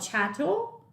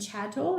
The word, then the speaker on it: chattel: i love his channel it rhymes with cattle and it's movable how